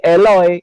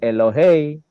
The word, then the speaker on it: Elohei: Maka bacaannya menjadi Eloi yang seharusnya itu tertulis Elohei.